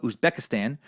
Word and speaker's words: Uzbekistan: Central Asian nation of Uzbekistan which borders Afghanistan and rhymes with Kazakhstan and for some reason